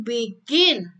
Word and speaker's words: begin: When do you begin? Begin. Begin. B itu lebih rendah, gin itu lebih tinggi. Jadi rendah dulu baru tinggi ya. Karena yang ditekankan adalah yang second syllable.